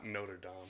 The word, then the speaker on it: Notre Dame: yeah classic Hunchback of Notre Dame Notre Dame is that how you say it I mean